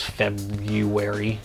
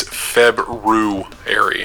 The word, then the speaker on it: February: no Valentine's Day card for you come this febrary it's February well it should be you